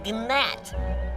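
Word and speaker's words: gnat: me you are a gat it's a g silent it's n are you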